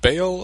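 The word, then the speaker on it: Baal: how'd you say his name was bounced again bail apparently although in the second volume when they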